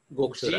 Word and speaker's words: Gokshura: And spell it again, Gokshura. Correct? Gokshura. Gokshura.